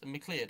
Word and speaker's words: MacLeod: and the creator of the minecraft soundtrack kevin macleod because mclead how it's pronounced everyone uses him uh lena rayne who's